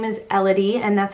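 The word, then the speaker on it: Ellody: So her name is Elodie, and that's how we're going to say it.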